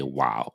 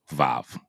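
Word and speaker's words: ו: The way you say and is in Hebrew is you would write that that line that you see right there is a wow is a wow or some people say vav right that's a wow and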